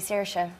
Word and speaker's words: Saoirse: myself that way now should like inertia but in ireland people say a different way so like isn't there sorcerer yeah i don't think i actually pronounce my name the correct way i i say starship but a lot of people in ireland say i know it's actually searsha i think you're saying